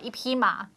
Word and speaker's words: 匹: 匹. So you'd say horses 马, so you'd say 一匹马. Yeah. Except in Taiwan, they pronounce it P in the flat really? tone. Yeah, 一匹马.